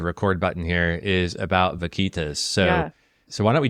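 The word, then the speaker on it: vaquita: I hit the record button here is about Vitas so so why don't we jump in you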